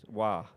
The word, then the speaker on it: Roy: Wah. It's a hockey reference. Patrick Wah, the goalie. Gotcha. Yes. Yes. Wah. I think a lot of people called Patrick Wah before Waugh.